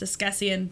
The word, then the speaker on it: Askesienne: This is pronounced Escessian, but you don't need to worry about that.